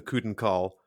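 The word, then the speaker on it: Choedan Kal: them at all so I will continue to call them the cuden call just like I always have in my head I'm not going to say choden call because that sounds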